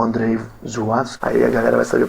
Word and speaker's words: Żuławski: Seria Zulawski, mas é um L com um tracinho, pronuncia Żuławski.